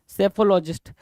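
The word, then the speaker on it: psephologist: हैं क्या लॉजिस्टिक स्टेफोलॉजिस्ट सैफोलॉजिस्ट एस ए पी हा ओ ल ओ जी आई एस टी लोग साइलेंट हो गया राइट चलो आगे चले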